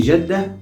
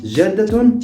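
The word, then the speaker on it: جدة: with a half sound so we can say jeddah and jeddaton but jeddatun is the right pronunciation of the word grandma jeddah so you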